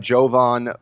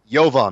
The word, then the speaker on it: Jovan: Ralph Lollar we've had Jovan boo ha not Jovan I think mispronounced his first name I got it correctly on the podcast he's a go Vaughn yovan there you go yovan booyah from the